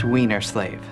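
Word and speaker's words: Weinerslav: excuse me Mr wlav it's pronounced weener slave okay Jeffrey is there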